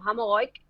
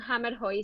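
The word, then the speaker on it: Hammerhøj: Vale, se pronuncia, si lo pronunciara mi abuela, te diría algo así parecido como Hamogoik, Uh, pero en español aceptamos un hammer hoy sencillo, ¿vale?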